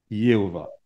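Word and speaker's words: Jéhovah: Et le Y avec le A, ça donne Yé. Et puis l'H, O, Yéo. Et le W qui se prononce V, V-A, Yéhova.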